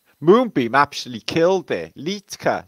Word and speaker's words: Liedtke: moonbeam actually killed there litka silent d e on the end for the silent d this is not this